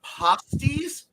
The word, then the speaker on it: pasties: No, in the Upper Peninsula of Michigan, the word pasties, and it's pronounced like that, is spelled like that, and it is a rather hard to describe.